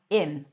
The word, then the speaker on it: him: Now the word him is pronounced as im.